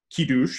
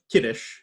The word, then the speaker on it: Kiddush: Example number 2 that Rabbi Green brings, Kiddush, or Kiddush, as it's commonly pronounced with an American accent, literally means making